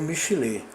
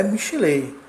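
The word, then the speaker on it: מִשְׁלֵי: O primeiro termo a ser analisado é o termo Michilé, cuja pronúncia não é Michilei, como anteriormente pronunciamos, mas sim Michilé com o Yud mudo.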